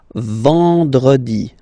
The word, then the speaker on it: vendredi: Then, E-N, nasal, and it's en. En. So remember, vendredi. Vendredi. Vendredi. Vendredi. Okay?